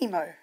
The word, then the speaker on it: MiMo: There is a structure There is MiMo (pronounced Me Mo) Come and take a